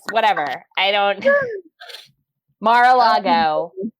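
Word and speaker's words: Mar-a-Lago: Is that is that how you pronounce that? Marco logo. I want to be like Margo logo. Morocco. I don't know. It's Mara Lago.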